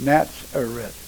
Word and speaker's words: Nazareth: Little is known about Nazareth, correctly pronounced Nazareth.